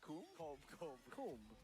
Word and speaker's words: comb: Is that how you pronounce that? Comb.